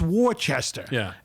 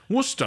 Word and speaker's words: Worcester: when they come here, where's Warchester? It's Worcester. Worusta, of course. Glouester. Glouster. Stuff like that. That's how they say it in England.